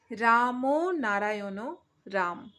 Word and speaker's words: রাম নারায়ণ রাম: রামও নারায়ণ রাম। রামও নারায়ণ রাম। উচ্চারণটা কিন্তু এইভাবে হবে।